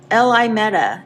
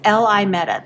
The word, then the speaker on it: LIMETA: This is LIMETA or LIMETA app. So this is LIMETA. That's how you pronounce this.